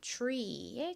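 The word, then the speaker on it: tree: 그래서 미국식 원어 발음으로는 트리보다는 tre에 가깝게 소리가 나요.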